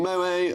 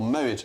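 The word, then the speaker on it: Moët: The scientists stopped short of prescribing Moa as medicine or Moit as I should probably pronounce it.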